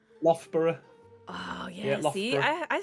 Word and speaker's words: Loughborough: Firepumpkin pronounce. Loughborough. Loughborough. I don't know very if there's close. like an F. Loughborough.